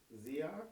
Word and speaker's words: SEAK: in politics so depend depends on how you spell my name you can say it like zak or you can say it seek or probably that's like so like lots of other ways of saying it but on the other